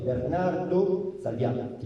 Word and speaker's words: Bernardo Salviati: Les Salviati sont nombreux à Florence, à la fin du XVe siècle, et il existe plusieurs Bernardo Salviati. Il faut prononcer comme ça.